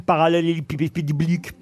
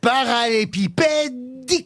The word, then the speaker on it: parallélépipédique: C'est pour faciliter sa manutention, voyez-vous, que l'amas est compacté en forme parallélépipédique. Ah bah dites-le vous au moins. Allez. Parallélépipédique. Non, parallélépipédique. Vous voyez, il vous manque une syllabe.